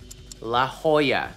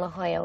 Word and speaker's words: La Jolla: not English remember and the last one La Jolla California also not English pretty cool huh how'd you like to spend again in La Jolla with myself I hope